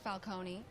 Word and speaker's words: Falcone: __ ] Marvel character pronounced Falcone and it sounds like it's Italian mhm why are you